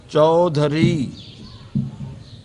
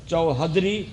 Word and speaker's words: چودھری: لکھا ہوا ہوتا ہے۔ چوہدری لکھا ہوتا ہے، وہ تلفظ غلط ہے، چودھری، چے واو دال ہے رے چھوٹی یہ، چودھری صحیح تلفظ ہے، چوہدری وہ غلط ہے۔ چودھری یہ مذکر ہے،